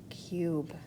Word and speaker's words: cube: U says its name, so I know I have a silent E at the end. Draw an arrow from your vowel U to your vowel silent E. And then write the word cube.